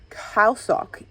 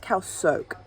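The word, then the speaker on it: Khao Sok: very well so basically kyle sock sorry it's actually pronounced cal soak in thai is a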